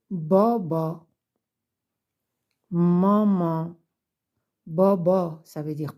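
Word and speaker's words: بابا: là ça se prononce Boba maman Boba ça veut dire papa maman ça veut dire maman voilà donc au milieu d'un mot quand c'est attaché ça se prononce toujours a comme avec le chapeau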